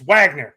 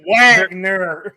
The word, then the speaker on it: Wagner: FR VNA excuse me Vagner Vagner vogner I never said that at Michigan I was like what it's Wagner godamn it no it's it's America it's Wagner they're German so they Pronounce W I know I know